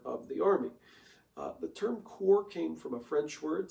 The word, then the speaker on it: corps: The term corps came from a French word, so it's spelled C-O-R-P-S, looks kind of like corpse if we'd read it in English, but it's a French term, and there's a couple reasons for that.